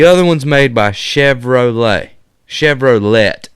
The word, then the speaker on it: Chevrolet: Chevrolet, actually, is how it's pronounced.